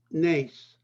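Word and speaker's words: נס: The word for miracle is pronounced nes.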